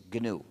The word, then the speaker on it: GNU: Se escribe GNU, se pronuncia en inglés GNU.